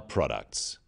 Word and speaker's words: products: The wrong stress makes it hard to understand. So, conclusion, not conclusion. Products, not products. Even more important in speaking is to stress the important words in a sentence.